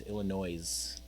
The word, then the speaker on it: Illinois: We're in Texas, Illinois. Except that I grew up in the Midwest, so I know how to pronounce it the right way.